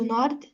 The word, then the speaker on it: Nord: La gare du nord ou nord ? Bon, la gar du je dis queon prononce par la consonne finale. Comment on dit ? La gare du nord.